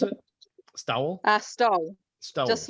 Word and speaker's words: Stowell: How do you pronounce it? Stowell.